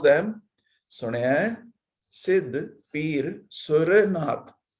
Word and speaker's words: Sur: So we pronounce them Sunaya, Siddh, Peer, Sur, Nath. So only Sur wala ra stressed, asserted, whereas akarantak words are pronounced with the last letter as dim.